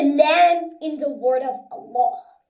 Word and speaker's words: Allah: in the word of Allah. This Laam must be thick if it is preceded by the Fatha letter. And when it is thick, it is pronounced as we pronounce law in English.